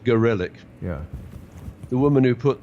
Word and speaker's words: Gorelick: Well, in the 1990s, Janet Reno, Jamie, I like to pronounce her name Gorelick, but I think she prefers it to be pronounced Gorelick.